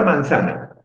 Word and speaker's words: manzana: Pero sí, la sílaba tónica es sa.